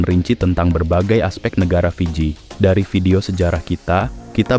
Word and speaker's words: Fiji: ini disebut Fiti levu nama Fiji berasal dari pengucapan Tonga dari kata Fiti orang Tonga yang memiliki